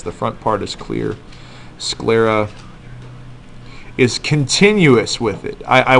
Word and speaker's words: sclera: it's called the sclera scl e.r.a sclera not skull Lera sclera like two syllables um so was it